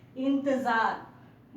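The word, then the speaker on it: इंतज़ार: देखिए यहाँ ज के नीचे बिंदु है, ठीक है, इसे नुक्ता कहते हैं और इसका उच्चारण होगा ज। ठीक है, इंतजार। अगर नुक्ता नहीं रहता तो ज बोलते, अगर नुक्ता रहेगा तो ज।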